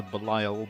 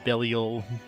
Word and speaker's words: Belial: We're just so used to like, oh, it looks like a Belial. It's what I would call it as a Belial, but it's Belial.